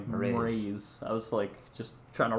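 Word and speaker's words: Mraize: And it's spelled Mraiz, so whatever vowel you want to put between M and R. Moraes. All right, whatever. I guess I give it an just to a short little UH sound, Yeah, I was saying Moraes.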